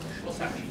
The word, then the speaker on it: Slosarczyk: Slosarczyk, did I pronounce it correctly? No, Slosarczyk.